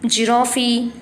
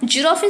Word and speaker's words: giraffe: Okay, so giraffe spelling is Giraffe. This one also is coming to the first letter is G, but how can you pronounce J? Giraffe, J. So what is the different sound?